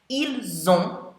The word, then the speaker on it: ils: Ils ont means they have. So notice there, the il, if you just have that word, ILS, you don't pronounce the S on the end of the word, il.